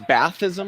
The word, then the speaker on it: Ba'athist: anybody- Like it sounds Bathism, like bath and ism.